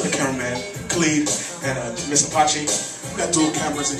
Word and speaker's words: Apache: For the people out there, what does it mean, and how do you pronounce it? It's Apache.